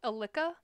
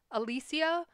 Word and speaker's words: Alicia: Spelt the Spanish way. So A-L-I-C-I-A. And I have been called Alica, Alicia. Well, Alicia is the Spanish pronunciation, but most of the time, I'm going to be called Alicia, which I'm just like, all right, we're not vibing with that pronunciation.